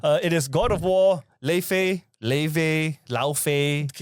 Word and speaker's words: Laufey: You know how it's you know how her name is pronounced in Icelandic is Laufey which she likes to correct people on but this one it